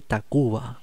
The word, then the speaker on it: Tacvba: Muy bueno Café Tacuba. Cabo. Quiero primero ver quiénes son. Café Tacuba. Esto me habían dicho. TAC B corta, B larga A. Se escribe así, es una manera de ellos de escribirlo.